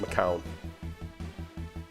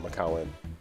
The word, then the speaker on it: McCown: Josh McCown? Yes. That's what you're talking about? Yeah. Okay. How many teams for Josh McCown? I think it's just McCown. Not McCowan.